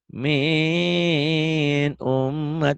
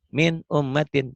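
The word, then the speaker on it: مِنْ أُمَّةٍ: Jadi nggak boleh dibacanya kalau kata Bawanti lebay. Min ummat. Nggak boleh. Min ummatin. Jelas. Dibacanya jelas tanpa ditahan.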